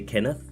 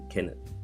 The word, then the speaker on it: Kenneth: in English people say Kenneth but in Danish it's Kenneth Kenneth in English it's Kenneth and in Danish it's Kenneth so the H is silent when you say it in Danish what is